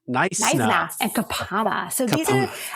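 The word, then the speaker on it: Knysna: The K is silent. It's so Naisna. Naisna.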